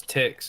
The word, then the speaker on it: Tix: You saying Dicks or Tix? Here it is. Answer the question. Answer the question. I got one of the maps, chat. Nah. How do I say his name? Oh, it's Tix.